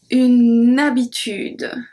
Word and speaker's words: habitude: Now let's see a different one with H muet, so acting as a voyelle, so we link. The first one we saw it, une habitude.